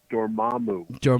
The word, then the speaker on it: Dormammu: I know how to say it, Dormammu.